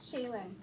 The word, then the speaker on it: Shailynn: Shaylin. Shaylin? How do you spell it? Shailynn. So it's Shay and Lynn.